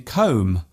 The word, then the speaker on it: comb: at all for example the b in comb womb and bomb there is only one letter change between these words yet they are pronounced differently other words containing silent